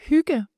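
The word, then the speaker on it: hygge: It's very gi how do you pronounce it? Uh huga.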